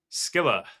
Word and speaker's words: Scylla: Scylla.